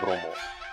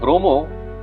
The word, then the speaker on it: Bromo: The name Bromo comes from Javanese pronunciation of Brahma, the Hindu god of creation.